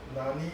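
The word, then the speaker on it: 何: Alright, so I will say The kanji for nani and nan is the same. it's the same. It's the same. But the thing is, the pronunciation differs because of the word behind it.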